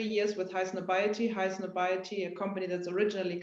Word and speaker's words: Highsnobiety: Am I pronouncing Highsnobiety right? Is that right? Yes, it's correct. Exactly. It's Highsnobiety.